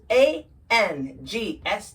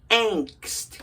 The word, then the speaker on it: angst: the first word is a n g St T it's pronounced angst got to feel that n right there angst watch the mouth angst